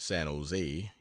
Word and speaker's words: San Jose: down to San Jose generally pronounced San Jose emphasis on last Sila today 50 mi from